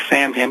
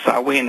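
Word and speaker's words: Samhain: is one of them they call it saen it's spelled s a m ha a i n looks like Sam him but it's really pronounced sawi it's a a scotch gelic word but anyway uh they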